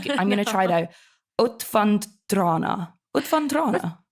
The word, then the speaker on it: Utvandrarna: You're gonna be in a film which I can't pronounce the name of. I'm going to try though. Utvandrarna.